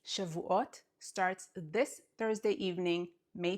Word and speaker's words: Shavuot: Shavuot means weeks, week in plural, weeks, Shavuot. Sha vu ot, weeks.